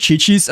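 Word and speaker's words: Qiqi: as well, you know, until someone mentioned that it's pronounced chi-chi.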